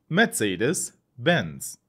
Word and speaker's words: Mercedes-Benz: luxury core brand Mercedes-Benz in German it's pronounced Mercedes Benz mezadis Benz please note the literacy in English is C in German and the letter z in English is set in German that's why we say Mercedes instead of Mercedes and